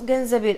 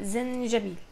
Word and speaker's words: زنجبيل: للاكسده مهمه جدا للبشره ناس كتير جدا بتنطق جنزبيل او احنا بالعرف العادي كده احنا بنقول جنزبيل لكن هو النطق الصحيح او الكلمه الصحيحه اللي هو هو هو زنجبيل من المميزات المهمه جدا